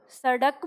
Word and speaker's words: सड़क: बोल रहे हो सड़क तो ये ड़ जो आप बोल रहे हो तो दोनों में अंतर समझ में आ रहा है आपको दोनों ध्वनियों में अंतर तो ये है ड और ये ड थोड़ा सा अंतर है थोड़ा हल्का तो यही इन दोनों